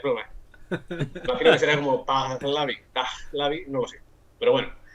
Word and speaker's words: Pahlavi: Ahí ya te digo, no quiero meterme en un jaleo, en un fregado, pero bueno, es una palabra que ha pasado del persa al pahlavi con H aspirada, pahlavi, no lo sé.